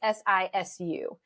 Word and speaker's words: sisu: I'm pronouncing it Sisu. It's Sisu.